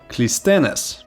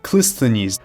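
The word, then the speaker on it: Cleisthenes: The man we call the father of democracy was also an Alcmaeonid, Clisthenes, or Clisthenes, depending on what pronunciation you go for.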